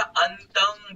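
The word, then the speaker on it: अन्तं: हद्य सकन किलोमंक पिहंक जेव्हा अनुस्वार येतोय ना वरती तेव्हा अंग असं उच्चारण करायचं, तसं पुढे अंत आहे ना त्याला अंतंग बोलायचं, अंतंग अंत गुणंग कर, ट्राय कर.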